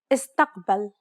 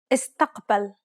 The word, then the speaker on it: استقبل: استقبل. Do you recall the second principle? If there are no long syllables, stress the third to last syllable. Try one more time. استقبل.